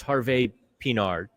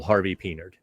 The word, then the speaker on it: Harvey-Pinard: And if you want to say the French way, it's Harvey-Pinard. Or he gave us permission just to Americanize it, Rafael Harvey-Pinard. He gave us permission to pronounce it just, full-on Yinzer. So you're not wrong either way.